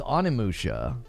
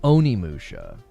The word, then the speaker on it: Onimusha: Yeah, I was told it was Onimusha, not Oniimusha.